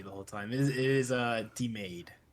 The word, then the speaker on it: DeMaegd: I believe it's DeMaegd. No. It's not. Okay. No. I was Church missing Street Broadcaster has lied to you the whole time. It is DeMaegd. DeMaegd.